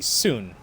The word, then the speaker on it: Sun: want to bring up the actual Chinese pronunciation of s UN would be soon as in soon Lee soon hi soon